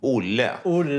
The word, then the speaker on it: Olle: Olle, is that how you say it? Olle? Yes, Olle.